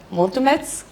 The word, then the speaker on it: mulțumesc: But I don't know how to say the mulțumesc.